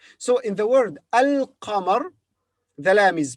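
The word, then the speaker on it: القمر: lamb here is silent so in the word al qamar the lamb is pronounced but in the word ashems the lamb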